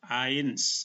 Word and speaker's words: eins: EI dibaca I, maka ini dibaca eins, ada huruf S di belakang.